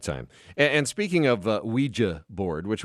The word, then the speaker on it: Ouija: and speaking of uh Ouija board which we always call the Ouija board that's what it is the Ouija board but it's spelled o-u-i-j-a do you know why